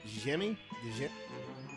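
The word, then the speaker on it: Djimmi: I believe this pronounced Jimmy. The Jimmy, like the Jin, or Jin, because Genie.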